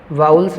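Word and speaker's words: vowels: एक हमारा क्या है, एक है हमारा वाउल्स हैं हमारे। एक तो देखो कई बच्चे इसको वोबेल बोलते हैं, ये वोबेल नहीं होता। क्या होता है इसका सही प्रोनाउंसिएशन, क्या होता है, वाउल्स।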